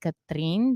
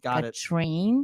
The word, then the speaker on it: Katrin: one the second one Americans cannot say are so they don't call me Katrin they call me a train got it so I